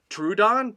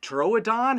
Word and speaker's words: Troodon: and it's truedon troadon how do you say this dinosaur's name so you guys you can say it either way you like trouodon troadon there isn't really no wrong way to say dinosaur names uh unless you were